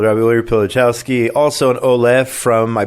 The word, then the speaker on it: Pilichowski: And did I get it right? Yes, you're perfect. Just like it's spelled. Just like it's spelled. Rabbi Uri Pilichowski, also an Ole from, I believe, New Jersey.